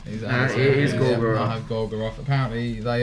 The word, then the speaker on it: Gorgoroth: It is Gorgoroth.